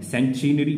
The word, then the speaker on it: centenary: सेंचुरी नहीं है, ध्यान से देखिएगा, इसकी स्पेलिंग पे आप ध्यान देंगे, ये सेंटिनरी है, CENTENARY, सेंचुनरी पढ़ेंगे, सेंटिनरी लिखा हुआ है, इसका मतलब होता है